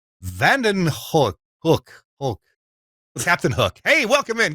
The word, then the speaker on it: Hoek: I'll have some free time with you guys, and it's van den Hoek. So, Van den Hoek. Hoek. Ooh, like ooh. Ooh. Hoek. Hoek.